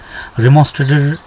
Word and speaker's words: remonstrated: रिमोन्स्ट्रेटेड, देखिए आपको उसका उच्चारण कैसे करना है, इसका प्रोनाउंसिएशन कैसे करना है, इसका जो सिलेबल होता है तोड़ते कैसे इस वर्ड को. REMON मॉन, STRA स्ट्रेटेड, रिमोन्स्ट्रेटेड का मीनिंग होता है